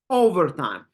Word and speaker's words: overtime: absolutely the first one overtime overtime you can feel how we're stressing the first syllable how we are pronouncing